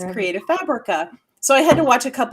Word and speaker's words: Fabrica: I always say the name wrong. Is it? So Tracy's always been Yeah. wondering, is it Fabrica or Fabrica? Fabrica.